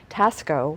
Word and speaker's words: Taxco: it's about a two and a half hours Tasco which is spelled ta ex-ceo and found out that the history of tasko was rich with a silver heritage the border